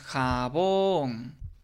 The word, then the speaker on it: jabón: Nosotros decimos jabón, ¿okay? Y nos damos cuenta que la sílaba B, pues es la sílaba tónica, es la sílaba que tiene mayor fuerza, termina en N. ¿Sí? Entonces, hay que acentuarla de acuerdo a la regla del acento ortográfico de las palabras agudas.